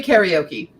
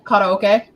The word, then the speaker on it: karaoke: on the word like I will say karaoke I know it's correctly karaoke white basically if you're like no no no it's karaoke one that does kill